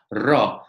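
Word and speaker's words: ρ: The next one, although it looks like a P to us, it is R, and we pronounce it R, is the letter Ro. So P, Ro, Ro. So don't be confused, even if it looks like a P. It is a P in actual fact in the Latin script, but it is pronounced as R, is the R sound in Greek.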